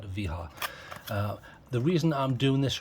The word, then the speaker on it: Wiha: It's a tool, and this time it is a Wiha, or Wiha if you're American or whatever, but if you're German, I guess you would pronounce that Wiha.